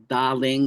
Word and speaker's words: Daling: Great mound, great burial mound, or daling is how you say it in Chinese.